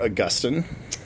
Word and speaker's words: Augustine: I go by Father Augustine. It rhymes with disgusting, so that's easy to remember.